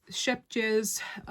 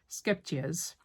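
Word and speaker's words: Scheepjes: And the yarn I'm using is Shepjes Stonewashed. I'm sure I kind of butchered that name. A lot of people struggle with, it might be Skepjes. Yeah, I think the H is silent, so it's Skepjes.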